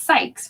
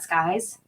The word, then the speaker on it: Sykes: it ollie sykes since it's sykes right not skies psychics yeah all these